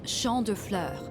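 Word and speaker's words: Champs de Fleurs: Champs de Flores? How do you say that? It's Champ de Fleurs. I knew Mitsuru would be our go-to for that. It means field of flowers.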